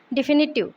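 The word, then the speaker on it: definitive: डिफिनिटिव इसमें word stress फी पे आएगा और ये इसका प्रोनाउंसिएशन हो जाएगा डिफिनिटिव।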